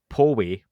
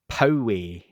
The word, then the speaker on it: Poway: off by correcting um tom delong is not from paul way california san diego he's from poway hillway yeah that was sam who told me i butchered the pronunciation um in a very nice way he'd done that and he was right because i i did so it's not paul wake uh san diego it's poway san diego and i await someone